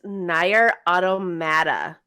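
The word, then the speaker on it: NieR: Automata: so i'm sorry guys it's nire automata that's that's the pronunciation of it no yeah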